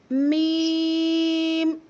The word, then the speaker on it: م: है ना होठों का, ये जो ड्राई पार्ट है इसे आपस में मिलाएंगे। मीम मीम। फायजा इधर देखिए बेटा, मीम। थोड़ा सा आपको ऐसा फील होगा नोज में से आपकी साउंड प्रोनाउंस हो रही है।